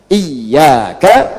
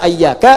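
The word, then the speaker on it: إِيَّاكَ: Iyaka, iyaka, iyaka. Jangan dibaca ayyaka, jangan dibaca hayyaka dalam salat, ya kan? Dan jangan dibaca iyaka. Dibacanya apa? Iyaka.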